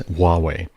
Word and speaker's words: Huawei: US Department of Defense Huawei which is spelled hua wvi in case you ever wondered how to pronounce that hua WI one of one of the people that works for me fix my pronunciation it is Huawei Huawei and ZTE devices